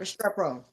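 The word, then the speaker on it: Restrepo: Restrao. Yep. Restrao. Yeah, that's how you pronounce it.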